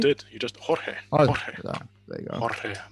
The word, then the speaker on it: Jorge: Oh, Jorge.